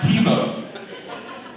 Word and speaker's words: Thibaut: And basically, this is how it's spelled, and it's pronounced Thibaut. Yes, like the football player, but it's my first name, it's not my last.